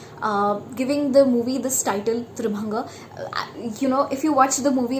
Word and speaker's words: Tribhanga: I actually pronounced it Tribhanga, but it is supposed to be pronounced as Tribhanga.